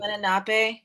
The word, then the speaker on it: Lenape: Lenape, yes.